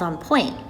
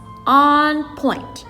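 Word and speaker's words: en pointe: one day we will that is called on point you say it like this on point can you say that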